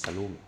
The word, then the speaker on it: Salome: It's actually pronounced Salome. It's a French company. Salome, free CAD, you have